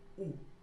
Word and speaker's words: o: Vamos começar com o artigo O, que a gente em português pronuncia U.